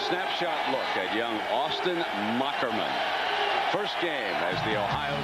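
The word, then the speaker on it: Moherman: the name is pronounced mockerman as he explained to us that's old German with the H is a k 63 215 lbs completed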